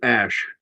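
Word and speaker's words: Æ: But it's Ash. The AE, which is supposed to be pronounced as Ash, is his contribution referring to the precursor of the SR-71 aircraft.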